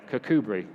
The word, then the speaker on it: Kirkcudbright: Yeah, Kirkcudbright, that's what it is.